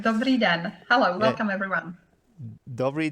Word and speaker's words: Dobrý den: Dobrý den. Is that how you say it in Czech? That's absolutely perfect. Dobrý den.